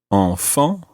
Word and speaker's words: enfants: And the plural of this, the word for children, sounds exactly the same, although it's got a silent S on the end.